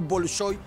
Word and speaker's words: Bolshói: bolshói el teatro grande normalmente se dice en español bolshói por como pronunciamos la o cuando va acentuada aunque esval soy en